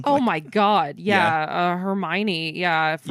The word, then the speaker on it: Hermione: Harry and Ron, is like, have you seen Hermione? Have you seen Hermione? Like he keeps mispronouncing her name. And then Ron is like, no, it's pronounced Hermione.